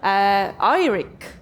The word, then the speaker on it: Eirik: and then we have straight from the Norway irick can I pronounce it like this 100 perfect okay and